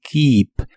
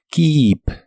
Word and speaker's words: keep: presente de inglés es Keep la doble e de este verbo se pronuncia como una I larga o doble Keep Keep este verbo no se